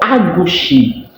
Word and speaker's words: agushie: So, in Ghana, egusi is called agushi. It's spelled a g u s h i e, agushie.